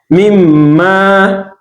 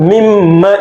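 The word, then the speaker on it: مِمَّا: Mimma, Razakunakum, Mimma, this is Mim with Shaddah, right? Mimma, this is Noon with Shaddah. So when you pronounce both of them, you apply more time to it.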